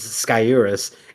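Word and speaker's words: Sciurus: So it's actually uh surus or sorus and where the r where the r ends up in the emphasis and how you pronounce the first s or s is like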